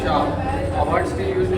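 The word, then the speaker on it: 茶: When an emperor of the Han dynasty ruled, the tea should be pronounced cha, a word still used in the UK until quite recently as slang of cup of tea.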